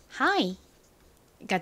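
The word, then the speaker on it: high: 나는지를 알고 있기 때문이죠 gh 무음이 소리가 나지 않죠 그리고 아는 무슨 소리가 난다고 고 말씀드렸나요 I 소리가 나죠 그래서 hga 가진 히읗 소리와 연결해 보면 하이가 됩니다 끝이에요 쉽죠 하이가 무슨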